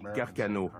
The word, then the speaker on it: Carcano: On prononce Carcano.